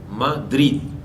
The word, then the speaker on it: Madrid: Cuando hablamos una palabra, Madrid, estoy colocando en drid mayor pronunciación.